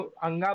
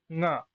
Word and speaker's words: ङ: इस, ये जो अंगा बोलते हैं हिंदी में, अंगा नहीं, ङ, इस ङकार का, क्योंकि